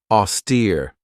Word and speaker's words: austere: Austere. This has two syllables and the stress is on that second syllable with that long e sound.